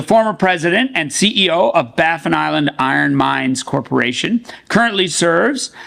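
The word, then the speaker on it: Baffin Island: he is a former president and CEO of baffan Island iron mines Corporation currently serves as its non-executive chairman baffan island is developing the Mary River project located on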